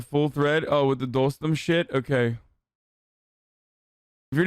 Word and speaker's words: Dostum: Dostum pronounced Dostum.